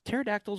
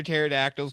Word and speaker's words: pterodactyl: you can't hear pterodactyls go the bathroom? Cuz their pee is silent?